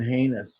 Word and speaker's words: heinous: It's been heinous. Heinous. Rhymes with anus.